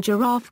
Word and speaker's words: giraffe: The final IFO copyright in giraffe gives a clue to the second syllable stress, where giraffe might suggest initial stress.